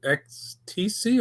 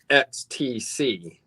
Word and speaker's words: XTC: name it the band is it x t c or ecstasy i always call them x t c but i did once